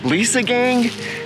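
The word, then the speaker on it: Liesegang: word mean so he let me know it's pronounced Lisa gang and it has to do with a chemical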